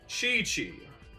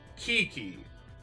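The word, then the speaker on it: Qiqi: there's a character that goes by the name chi-chi her name is spelled q-i-q-i to me it should be pronounced kiki but apparently it's chichi which is very interesting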